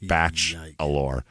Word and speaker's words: Batchelor: Yeah, Agent Tim Batchelor, but not spelled like the word bachelor. There's a T in there, like batch-alor.